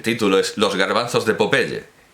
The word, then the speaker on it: Popeye: artículo los garbanzos de Popeye pronunciamos naturalmente como lo pronunciaría él a la española los garbanzos de Popeye publicado en arriba en